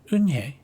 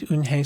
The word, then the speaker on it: Eunhye: Yes, it's pronounced Eunhye. And it means grace, Mr. Kim added. Eunhye, Joey said slowly, and this time perfectly. It made Eunhye smile.